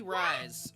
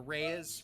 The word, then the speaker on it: Reyes: Anyway, Judy Rise. Oh, sorry. Or Reyes. Reyes. Yeah, Judy Reyes, I think, is how you say her name.